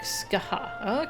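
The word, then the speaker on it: Scathach: Pronounce something like Skaha.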